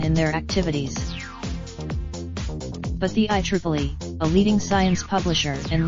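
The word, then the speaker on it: IEEE: had no comment on an announcement by the I Triple E pronounced diamonds the I Triple E which stands for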